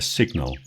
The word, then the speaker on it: signal: But in signal, it's a very different sound.